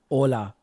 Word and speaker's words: hola: Like in Spanish in the alphabet they say H for H, but then in words they don't even pronounce the H. Yeah. Hola. There's no H.